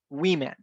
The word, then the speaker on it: women: And this particular one, not only the spelling changes, but also the pronunciation. Because for singular, we pronounce it as woman, and plural will be women.